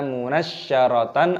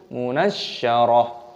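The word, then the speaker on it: منشرة: tasdid shinnya, munasya, munasyarah, taknya di sini dimatikan, bukan dibaca munasyaratan ataupun munasyarat, tapi munasyarah.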